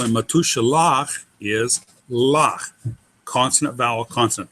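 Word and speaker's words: מתושלח: The final syllable in matushalach is lach, consonant vowel consonant.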